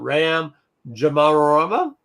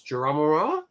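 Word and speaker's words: Ram Jomaram: This one has got Ram Jamarama. That's how you say his name. It's Jamarama.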